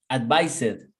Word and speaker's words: advised: Advise. Is the sound of Z. Z. Z. Remember that the rule says el último sonido del verbo original es el que va a determinar cómo lo vamos a pronunciar en el pasado. El sonido de la Z es Z, como una abeja.